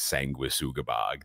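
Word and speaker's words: Sanguisugabogg: show you the logo is that correct that pronunciation yeah I I everybody debates me on it but I'm almost positive that it's sangua sugabag they say it's sangui I don't understand you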